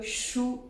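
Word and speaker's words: 输: Parce que le livre shu en chinois, qui a la même prononciation que shu, défaite, la perte en chinois.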